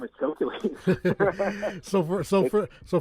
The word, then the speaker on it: Chokeules: you're an old guy with whose name is calculated so for so for so for those that are wondering it's spelled c-h-o-k-e-u-l-e-s yeah exactly basically the word choke